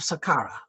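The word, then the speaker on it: Saqqara: the holy necropolis of Sakara. This is the Egyptians spell it the Arab spell it s a Q A R A where I think they should be s a k in sakara in his tomb there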